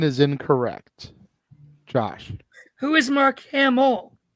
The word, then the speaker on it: Mark Hamill: Who is Mark Hamill? Mark Hamill is incorrect. Josh. Who is Mark Hamill?